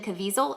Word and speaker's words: Caviezel: So, in fact, I really love the actors that are in there, particularly Jim Caviezel. Did I say his name right? Yeah, Jim Caviezel.